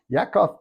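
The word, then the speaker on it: יעקב: is the history of Yakov which is Jacob that's the Hebrew pronunciation when Joseph was 17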